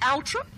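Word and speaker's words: Althorp: And I heard someone, how would you pronounce A-L-T-H-O-R-P, like Lord? Isn't it Altrup? Not going to say a word. Not going to say a word. I have a horrid feeling it's Altrup.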